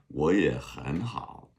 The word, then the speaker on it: 我也很好: So those things like surfing the tones, where when two third tones come together, the first one becomes a second tone. 我也很好.